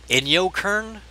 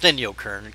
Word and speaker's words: Inyokern: After World War II, some PBJs stationed at the Navy's then rocket laboratory site in Inyokern? Yeah, pretty sure that's pronounced Inyokern, California, site of the present-day Naval Air Weapons Station, China Lake.